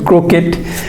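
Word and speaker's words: crochet: খেয়াল করেন এই এইচটা মূলত অনেক সময় উচ্চারণ নাও হয় ক্রোকেট, তার মানে খেয়াল করে দেখেন।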